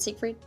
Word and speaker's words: Siegfried: Is it Siegfried?